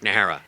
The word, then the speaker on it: Najera: is he singing the Mariachi song at Rick nahara and for those that don't speak Spanish n